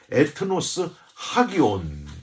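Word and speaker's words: ἔθνος ἅγιον: 이름으로 부탁드립니다 세 번째는 거룩한 나라 에트노스 하기온 이렇게 발음합니다 이것 망 같은 제사장처럼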